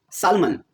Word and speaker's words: salmon: Salmon, spelled as salmon, without the L pronounced.